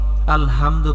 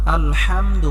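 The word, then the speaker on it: الْحَمْدُ: গলার মধ্যে হালকা চাপ দিয়ে উচ্চারণ করতে হবে। আমরা অনেকেই আলহামদু পড়ি। আলহামদু এটা হবে না। আলহামদু হবে।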